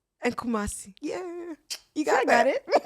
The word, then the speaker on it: Kumasi: Like, I learned, like, yesterday I was sitting there like, let me learn how to pronounce these words. In Sawam, you got right. Koforidua. Koforidua. Akuse. And Kumasi.